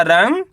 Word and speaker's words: रंग: रा में अनुस्वार की मात्रा रंग ग तो मिलके बन जाएगा रंग। सिंपल है। क्या पढ़ेंगे? रंग। आपको करने के आधा न का उच्चारण तेजी के साथ निकालना है।